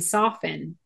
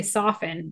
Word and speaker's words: soften: It's funny you pronounce the T in soften. I would say soften.